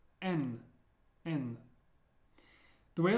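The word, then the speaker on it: Н: one is m n I know it looks like an H but it's pronounced like an n as in never n n the way I like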